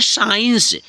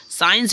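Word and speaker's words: science: ठीक है नेक्स्ट है साइंस ए सी आई ई एन सी ए साइंस साइंस में देखो सी साइलेंट हो गया एस आई ई एन सी ऐसे पढ़ते हैं साइंस बट सी लिखा जाएगा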